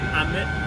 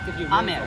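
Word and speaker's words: 飴: It's Ame. like ame. Rain. Ame. Yeah. Ame. Ame. Ame. Yeah. And what is what? Ame.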